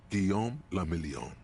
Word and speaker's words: Guillaume la Million: Guillaume la Million. If it doesn't rhyme, you're not pronouncing it right.